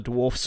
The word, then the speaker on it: Dwarfs: I don't particularly care about the Dwarves except for the Dwarfs faction. I say Dwarfs because that's what they are, not Dwarves. They're spelled D-W-A-R-F-Fs. They're pronounced Dwarfs. And in Tolkien's, it's Dwarves.